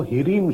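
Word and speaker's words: ह्रीं: माता महालक्ष्मी का जो बीज मंत्र है वो हीरीम शब्द है। हा में रा और उसमें एक रेचक लगा होता है, उसको हम उच्चारण में बोलते हैं ह्रीम, यानी आप उनके बीज मंत्र का जाप कर सकते हैं।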